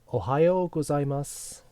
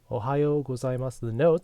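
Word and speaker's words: おはようございます: Ohayo gozaimasu. Ohayo gozaimasu. The notes are on the board right here. Ohayo gozaimasu. Notice the U is almost silent there. One more time. Ohayo gozaimasu.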